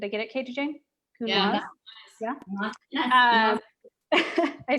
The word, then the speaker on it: Counoise: Counoise.